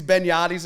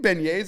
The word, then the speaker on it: beignets: gonna you know that he pronounced the benyadi's thing which is pronounced it's like they're just funnel cakes these benyattis everyone's like do you mean Beignets he's like yeah they are